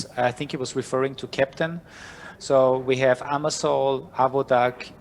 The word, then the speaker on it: Keptn: Keptn, it's the German phonetic for a captain. I'm from Austria, so the whole idea came out of Austria. That's why that's the way it's pronounced.